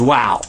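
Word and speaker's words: واو: A word you already know is wow. We say that a lot. Wow! Wow! But did you know that's the name of one of the letters in the Arabic language?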